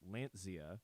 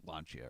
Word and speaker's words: Lancia: butcher uh they say they pronounce lancha as Lancia just to annoy Fanatics as well ah okay I pronounce launcher I think I pronounced it wrong not on purpose all these years isn't it Tony K is the expert on how to pronounce it it's like launcher or something like that that's what I thought